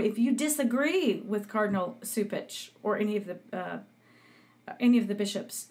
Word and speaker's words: Cupich: Where I don't know the whole incident, but I know that like Cardinal, how do you say, Supich? I've been calling him Cupich, but anyway, Supich is persecuting this priest who was sexually abused by a priest when he was a seminarian.